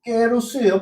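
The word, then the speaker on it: καιρός: 카이로스즉 실제로는 깨로스예요. 발음은 깨로스.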